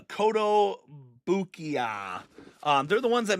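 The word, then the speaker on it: Kotobukiya: Because I always call it the the Cotto Bukaki. Um it is the uh Cotto Bukia.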